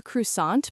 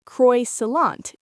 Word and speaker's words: croissant: He says, "Can I have a croissant, please?" Maybe his pronunciation isn't perfect. Maybe he says Croy Salant instead of Croissan.